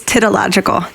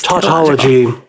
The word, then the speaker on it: tautology: to say it now it was titillogical jeff it was tautology tautology is the saying of the